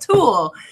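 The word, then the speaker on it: tulle: a web total into well this pronounced tool because that's how you spell it tu ll e so you're always like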